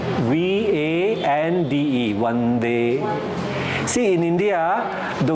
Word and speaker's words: Vande: Vande. The beginning. First letter. Vande. Like we, not W but V. V would be a better one. V-A-N-D-E.